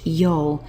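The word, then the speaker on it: 曜: off with this character over here which is pronounced y it's part of a combination y be which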